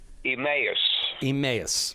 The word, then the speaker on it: Emmaus: One is pronounce it properly for me. Emmaus.